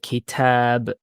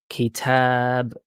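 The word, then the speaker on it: كتاب: In Arabic, we do have this concept of stretching vowels. So, as an example, if we say the word book, we say the word kitab, kitab. So you can hear the a sound is not just kitab.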